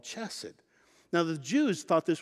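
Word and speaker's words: חסד: Now the Hebrew word for mercy is chesed. Some people pronounce it hesed.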